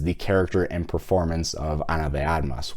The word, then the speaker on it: Ana de Armas: character and performance of Ana de Armas, which, by the way, that is the way that you say her name.